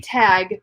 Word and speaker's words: Tagge: Now, okay, so if you guys are wondering, when we say tag, we're it's spelled Tagge.